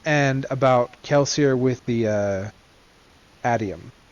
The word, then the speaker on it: atium: and about religion and about Kelsier with the Atium. Atom? Is that pronounced?